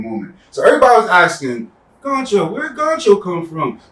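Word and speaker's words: Ghoncho: Okay, then Goncho. The H is silent.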